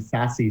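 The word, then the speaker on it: SASE: the acronym right it's it's pronounced sassy sir a secure access service edge and um the way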